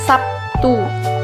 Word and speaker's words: Sabtu: Contoh kata Sabtu dalam bahasa Indonesia lazim diucapkan Sabtu. Terlihat bunyi B berubah menjadi bunyi P sebagai akibat dari pengaruh bunyi T.